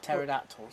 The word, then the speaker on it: pterodactyl: of them then because he's got silent p at the start that's why you can't hear it go to the toilet